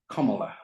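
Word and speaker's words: Kamala: from a book that kamla Harris wrote in 2018 and she says my first name is pronounced comma like the punctuation mark it means lots of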